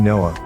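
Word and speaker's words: NOAA: National Oceanic and Atmospheric Administration is phonetically Noah noack Noah which means to rest slash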